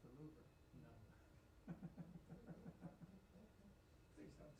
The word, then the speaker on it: Louvre: about, yeah, I'm gonna go over to the Louvre, and I'm like, it's pronounced Louvre. Are you sure? I think it's the Louvre.